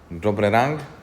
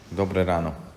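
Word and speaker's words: Dobré ráno: How you say jó reggelt in Slovakian? Dobre rang? Dobre ráno.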